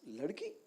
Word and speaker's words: Ladki: So it's not like ladki, it's ladki.